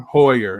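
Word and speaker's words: Heuer: gonna skip over to the huer hauer hewer however you want to say it how do you say your hoyer employer yeah this is before tag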